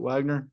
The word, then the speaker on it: Wegner: I don't really ever say anything about it because I hear both all the time and it makes zero sense why we do pronounce it Wagner.